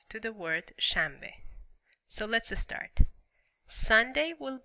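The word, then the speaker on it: شنبه: Okay, Saturday is Shanbe. Shanbe. Easy word, only two syllables.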